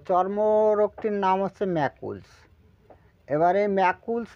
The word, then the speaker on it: Macules: ফেলি চর্মরটা নাম তারপরে আপনাদের বিভিন্ন তথ্য দিচ্ছি উচ্চারণটা হবে ম্যাকুলস ঠিক আছে বাংলা লিখে দিই তাহলে ভালো হবে ম্যাকুলস উচ্চারণটা কিন্তু ম্যাকুলস ঠিক আছে এর উচ্চারণ তো